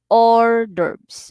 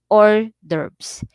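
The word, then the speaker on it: hors d'oeuvres: or cold appetizer so our verbs are pronounced orders okay so orders is pronounced or derps okay so when you see this word you will pronounce it or derbs so appetizers are open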